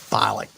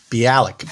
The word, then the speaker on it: Bialik: um for them yeah how you say it ma'am balik bialik oh mayam bialik there you go i think i got